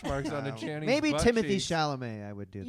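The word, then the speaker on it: Timothée: here's the remains of Timothy sh bones rattling around in a pencil case little tiny pencils why do people say his name is timot it's a French it's a French spelling no who's saying timot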